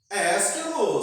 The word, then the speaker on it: Ésquilo: Ésquilo se escreve como se pronuncia. E no começo, e no meio, ou no final, acento no E.